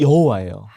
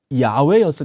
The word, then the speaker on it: 야훼: 그래서 나온 이름이 여호와예요. 여호와. 탄생. 그렇게 여호와라고 부르게 된 거야 학자들이. 그런데 이 오랜 연구를 해보니까 원래는 여호와가 아니라 아마 야훼였을 것이다.